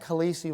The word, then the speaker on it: Khaleesi: Khaleesi.